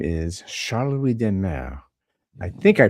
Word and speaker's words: de Maere: I mean, uh, it's demar. That's how it's pronounced in Belgium at least, but whenever I'm in France or Germany and so on, like people used to pronounce it the mayor.